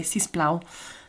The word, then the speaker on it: sis plau: Yeah, si us plau, or remember you could just say sis plau.